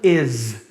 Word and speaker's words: is: de vogal da palavra is, que é pronunciado com Z. Está escrito com S, mas o som é de Z.